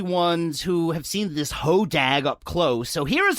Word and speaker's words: Hodag: gut piles i think it's it's it's actually pronounced hodag is how it's actually oh right my bad